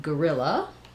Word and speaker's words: guerrilla: So because they're both stressed on the ril syllable, we have an unstressed schwa. So either the UE or the O, g, just becomes a schwa. Then we have the stress on the ril, and then we finally have another schwa. So I would write it as gorilla.